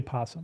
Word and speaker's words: opossum: of the country opossum You spell it opossum, you can still say possum.